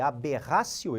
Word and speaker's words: aberratio: Já no erro na execução, conhecido em latim como aberratio ictus, olhem ali, aberratio, eu escrevo com o T e pronuncio com o som do C, aberratio ictus, o agente erra a pontaria, o artigo 73 do Código Penal.